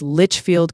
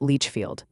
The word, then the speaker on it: Litchfield: It's Litchfield, Kentucky, not Leechfield.